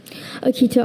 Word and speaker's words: Akita: Akita, are there any alternate pronunciations?